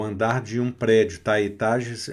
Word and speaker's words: étage: Aqui o E também não vai ser pronunciado no final. E o E no início com acento agudo. E. E. Não é E. Não é E. É E. E fechado.